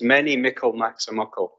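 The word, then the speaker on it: mony a mickle maks a muckle: the English people to see if they can pronounce it but I'll give you it's many Michael maximuckle and what it basically means is lots of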